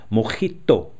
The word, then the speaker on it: mojito: Now, as we know, the correct pronunciation in Cuba is mojito.